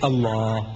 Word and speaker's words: Allah: right it is a l a h is allah you say look say allah my language my language i want you to pronounce as i want you to pronounce you